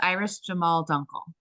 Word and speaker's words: Iris Jamahl Dunkle: don't you tell everybody um uh how to pronounce your name please oh my name is Iris Jamal Dunkel Dunkle okay okay I was I would have